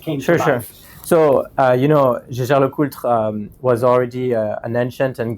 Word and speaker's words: Jaeger-LeCoultre: Was the pronunciation all right? Matthieu is perfect, yeah, and Jaeger-LeCoultre was perfect too.